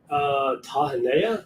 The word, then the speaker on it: Tahanea: Tahanea.